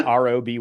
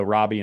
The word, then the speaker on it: Roby: So Robbie and Michelle, but it's Roby. I was like, Roby, like Toby from The Office with an R.